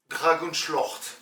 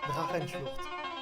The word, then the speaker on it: Drachenschlucht: Vous vous dites sûrement, waouh, il parle bien allemand, et pourtant j'ai même pas réussi à prononcer juste ce mot, Drachenschlucht, qui ne se dit pas Dragonschlucht.